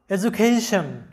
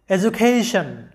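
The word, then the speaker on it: education: শব্দটার সঠিক উচ্চারণটা হবে এডুকেশন, কারণ ডি এর আগে ই এবং পরে আছে ইউ, অর্থাৎ ডি এর আগে ভাওয়েল এবং পরেও ভাওয়েল, তাই ডি এর উচ্চারণটা জ এর মতো হবে, এডুকেশন।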